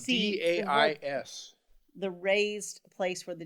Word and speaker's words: dais: you're sitting up there on the days you know i heard somebody pronounce it dais or something like that so apparently i'm pronouncing it wrong but you're up there